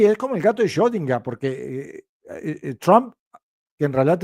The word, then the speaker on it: Schrödinger: ¿Han visto cómo lo pronunció? Schrödinger. Schrödinger. Eso es porque ich spreche Deutsch.